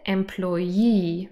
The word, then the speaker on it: employee: spelling different pronunciation here employee three syllables and the last one is stressed this is the person